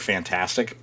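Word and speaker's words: FNtastic: Kotaku is reporting that, I'm going to just pronounce it as the word fantastic, but it's spelled F-N-tastic, which are the developers behind The Day Before, which is the most wishlisted game on Steam.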